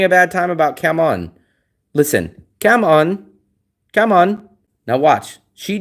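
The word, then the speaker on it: cảm ơn: Come on. Come on. Now watch. She definitely says it. You guys say, "No, it's cam earn." And they always make a point. Cam earn with a with an R.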